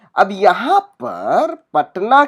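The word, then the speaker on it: Patna: पूरा अक्षर लिखते हैं, पटना बोलते हैं उसे, लेकिन हम जब हम उच्चारण करते हैं, जब हम मुंह से बोलते हैं पटना, ट जो है आधा ही मुंह से निकलता है।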